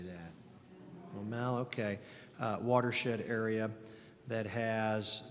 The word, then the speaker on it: Maumelle: Maumelle, okay.